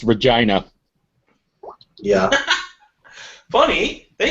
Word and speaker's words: Regina: It's actually pronounced Regina.